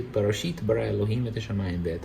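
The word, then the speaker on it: בראשית: You say Barashit bara Elohim et hashamayim ve'et haaretz. In ancient Hebrew, we say Barashit bara Elohim et hashamayim ve'et haaretz.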